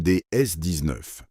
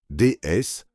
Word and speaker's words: DS: Cet objet c'est la Citroëne DS19. DS prononcé comme le mot DS, un nom qui n'est pas un hasard.